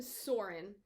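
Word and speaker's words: Søren: narrator calls him soren i tried to look up the pronunciation of that o and what i heard or what i gleaned was that it's an o like in word it's like an er so it'd be more like sulren again pronounce it how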